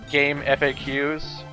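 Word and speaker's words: GameFAQs: goddamn game I know some people pronounce it game FAQs but I call it game facts so yeah [ __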